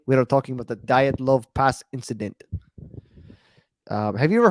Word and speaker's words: Dyatlov: But so it's pronounced from what I saw, Dyatlov Pass Incident.